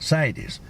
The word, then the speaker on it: CITES: Cities or sites? It's a CITES tag. CITES.